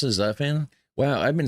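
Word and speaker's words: Zutphen: Zafan. That's how you pronounce it. Zafan.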